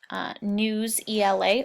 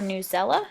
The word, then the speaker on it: Newsela: So I did some research and just kind of found this article website called Newsela or Newsela. It is pronounced both ways.